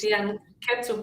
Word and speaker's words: fianchetto: fianchetto probably because ch in Italian is a ke.